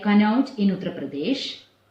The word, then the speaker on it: Kanauj: And there are some well-known names like Kanauj in Uttar Pradesh. That's spelled in the map as Q-A-N-A-U-J, Kanauj.